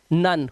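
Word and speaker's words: none: ई लगा हुआ है तो ओ का उच्चारण ओ होना चाहिए, बट ओ नहीं होता, आवाज आती है लव, नन।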